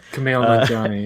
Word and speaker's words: Kumail Nanjiani: hopefully, we hope, with a little help from Kumail Nanjiani. Is that how you say his name? Kumail Nanjiani, yeah.